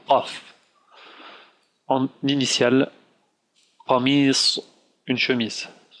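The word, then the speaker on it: قاف: Sa sœur jumelle qui est le Qa, Qaf, qui est un peu dur à prononcer pour les francophones, le Qaf.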